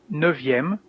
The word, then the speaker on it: neuvième: Here you can see that the F of neuf becomes a V, neuvième, and dixième with the same pronunciation Z here.